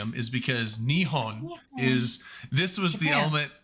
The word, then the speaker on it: Nihon: was working on that with their stuff and nion is how you say Japan in Japanese and